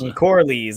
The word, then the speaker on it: Corlys: He leads the opposition to Karalas or whatever, or Corlaz or whatever, however you say his name. Lord Corley's. Corlys, yes.